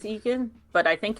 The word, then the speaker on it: Eoghan: Evan.